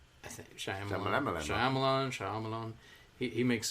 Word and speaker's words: Shyamalan: I think Shyamalan.